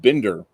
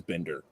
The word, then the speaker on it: Binder: Captain Marvel 2 and the way he said it I was like it's a German name I bet it is Bender so I'm like so